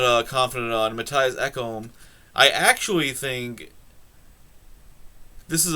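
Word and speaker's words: Ekholm: can pronounce um matthias eckham i know his name is ekkom it's the first name i'm not i'm not uh confident on matthias eckom i actually think this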